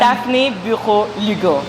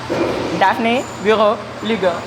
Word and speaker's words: Daphnee Bureau Lugo: Daphnee Bureau Lugo. That's how you say it. Daphnee Bureau Lugo.